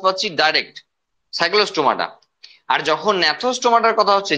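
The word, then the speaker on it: Gnathostomata: আর যখন ন্যাথোস্টোমাটার কথা হচ্ছে, জি সাইলেন্ট আছে, হ্যাঁ ঘাবড়ে যেও না।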